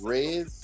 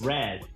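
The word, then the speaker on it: Razz: His name is Rez. Raz.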